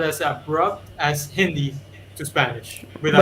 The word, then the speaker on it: Hindi: Hindu? Hindi.